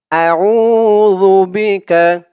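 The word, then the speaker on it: أعوذ بك: হয় না বলতে হবে জালের উচ্চারণ করার সময় মুখের জিহ্বার মাথা ওপরের দাঁতের মাথার সাথে লাগবে আল্লাহুম্মা কাফ জবর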